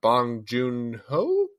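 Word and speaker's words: Bong Joon-ho: for him I think that uh I'm gonna butcher the director's name but bong junho who no you got right okay yeah the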